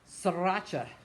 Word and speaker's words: sriracha: Sriracha, pronounced sriracha, is a type of